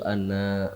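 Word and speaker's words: أَنَّ: Muham jadi nanya jangan panjang jangan wa Ashadu anna muhammadar rasulullah karena itu artinya akan berbeda ketika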